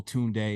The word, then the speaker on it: Tund3: marketing reasons and just turned it into a double syllable tun day and I remember you going on saying you gotta say it twice tunay tunay you feel though that